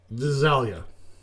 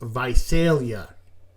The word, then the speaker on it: Visalia: The very next city on the list was Visalia. Yeah, have you ever heard of Visalia, California? Yeah, because it's actually pronounced Visalia.